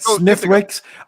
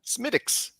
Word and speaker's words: Smithwick's: I said Smithwick's. I said Smithwick's because I'm a fucking American. I did it wrong. What is this actually called? Smittix. Smittix. Smittix. Smittix. That's how I pronounce it.